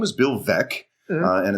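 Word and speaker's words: Veeck: back when called VEC as in wreck you know as in that's how you pronounce it because it would be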